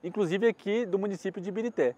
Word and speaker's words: Ibirité: Alguns falam que eles tinham dificuldade de pronunciar a palavra Ibereté. Porque se você olhar lá na estação, tá assim, estação Ibereté. Só que virou Ibirité.